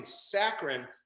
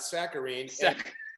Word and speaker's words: saccharine: I'm like, never knew what that meant, and then it's fucking saccharin, which it's pronounced saccharin, not saccharine.